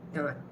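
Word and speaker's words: দাঁত: So without Chandra bindu, it would be dat. With Chandra bindu, it will be dat. What Chandra bindu does is add a nasal pronunciation to the word dat, dat.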